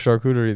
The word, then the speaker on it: charcuterie: You were struggling with charcuterie the other day. Just give it a shot. Charcuterie. Because I just said it. You say it like cuterie. Cuterie, yeah, cuterie.